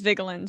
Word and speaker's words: Vigeland: It is Vigeland, but I mean, my aunts who are more connected to my Norwegian heritage than me, who doesn't really give a shit, they'll say Vigeland. That's the way I pronounce it.